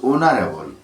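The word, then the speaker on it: honourable: যে ভাওয়েলটি বসে সেটি হলো এ কিন্তু এখানে উচ্চারণটা যেহেতু অনারেবল ও দিয়ে উচ্চারণটা হচ্ছে ভাওয়েল দিয়ে উচ্চারণ তাই এখানে এন বসবে এন এন অনারেবল ম্যান আট নম্বরে a person who makes pots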